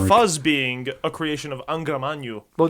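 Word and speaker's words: Angra Mainyu: Angramanyu.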